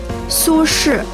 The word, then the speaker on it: 苏轼: 苏轼. I'm going to get that wrong. I'll do my best. Su Shura. 苏轼. Sure. So Su is S-U, and S-H-I is his name.